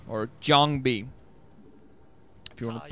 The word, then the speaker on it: JangBi: So, hey, it's going to be the first hit between Midas and JangBi, or JangBi, if you want to pronounce it correctly, on RI2 in the round of 16 of the Hana Daetoo MSL 2010 spring season.